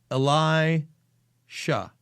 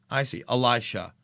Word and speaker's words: Elisha: It's pronounced Elijah, but instead of Ja, it's she. So, okay, so it's Elisha. Ah, I see. Elisha.